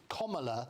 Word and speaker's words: Kamala: including lots of students, to get her name pronounced rightly, and nobody does in the media. Her name is Kamala Harris is what it is.